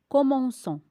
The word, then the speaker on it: commençons: Nous commençons. Si on n'ajoute pas la cédille, on prononce nous commençons.